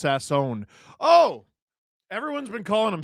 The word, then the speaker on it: Sasson: Uh, just FYI, Max's last name is pronounced Sassone. Oh, everyone's been calling him Sassin.